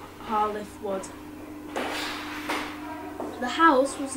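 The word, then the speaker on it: Hall i' th' Wood: The name represents Hall I'th Wood, spoken in the local regional English dialect, and is pronounced Hall I'th Wood.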